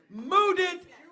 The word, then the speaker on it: Mudit: Let's keep that energy going for your next comedian, Mudit. Thank you. Thank you. My name is Mudit. That's spelled with the words mud and it. Back to back. Mud it. That's how you spell my name.